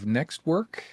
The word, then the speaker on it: NxtWork: And you're the co-founder and CEO of NxtWork. Is that how it's pronounced?